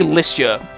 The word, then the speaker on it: Lycia: However, I do notice that some people will say Lycia. I've just always said Lycia, and that's generally what I'm going to be sticking with for everything.